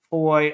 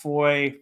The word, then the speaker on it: Foy: with the Battle of Foy, or I've heard it pronounced Foy, Faw. I don't know.